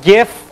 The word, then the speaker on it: GIF: so you know a both gif or Jif format some people say jiff even though the G stands for graphics over here which is kind of a hard G and then JPEG which